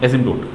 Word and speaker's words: asymptote: Spelling होगी बस ASYMPTOTE, एजिम्पटोट।